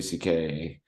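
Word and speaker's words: Székely: Anyways, he's telling Patrice O'Neill about his last name because his last name obviously isn't the letters C and K. That's how it's pronounced. It's a Yeah. Jewish last name, but it's pronounced CK.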